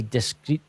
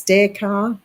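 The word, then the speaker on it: Descartes: Oh, I can pronounce it. It's Renie discrete. Is it It was a French philosopher. It's Decar.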